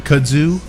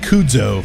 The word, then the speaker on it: kudzu: I said it right. Yes, you did. You said it like a Southerner. I was calling it Kudzo for the longest time. This Cujo is ridiculous. I thought Robert was very nice, not to correct you when you would say, "Hey, do you have that Kudzo?" He knew if he just kept giving me enough moonshine, eventually I'd say it right. And he's a smart man.